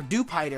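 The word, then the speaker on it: Dewpider: had the Marini and duper or duper I think is what it's pronounced cuz it's do spider duper duper sounds so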